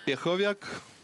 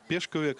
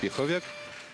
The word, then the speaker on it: Пеховяк: Ну, а нам предлагают смотреть на то, как Пеховяк, ее, правда, еще называют Пешковяк, но все-таки правильно фамилия читается как Пеховяк, сейчас выходит к своему стартовому весу.